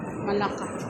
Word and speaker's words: Melaka: Tapos diretso na tayo Melaka, mga more than 2 hours din. Yun yung hometown ni Mamran. Melaka? Malaka. Malaka? Malaka. Pronunciation ko, Malaka.